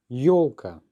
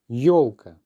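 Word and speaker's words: ёлка: Yolka. Yolka.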